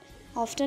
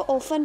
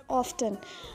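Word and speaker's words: often: Autumn, rap, नी, वैन, ऑफ्टन, ऑफ्टन नहीं पढ़ेंगे, इसको ऑफन पढ़ेंगे, टी इज़ साइलेंट. लेकिन जो करंट प्रोनाउंसिएशन है उसके अकॉर्डिंग दिस इज़ ऑफ्टन.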